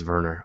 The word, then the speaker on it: Wernher: honors Verner von Braun I keep going Werner Verner I'm sure it's Verner um the gender or